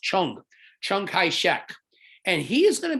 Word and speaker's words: Chiang Kai-shek: was this gentleman right here his name is pronounced chung chung kai shek and he is going to be leading the